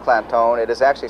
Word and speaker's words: Clanton: And while Clantone is pronounced Clantone, it is actually spelled C-L-A-N-T-O-N, but they put the emphasis on making it sound Clantone.